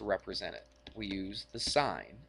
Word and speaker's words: sin: it to SI n we don't say sin we say sign all right A lot of people say that the sin or or tan or C I've heard teachers say it like that but you're not really supposed to okay we'll say the